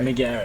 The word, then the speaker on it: McGarry: That's how I was wondering if it's any weird pronunciation, but I was like, McGarry's looks like how it's said. Exactly. And that's how you do say it.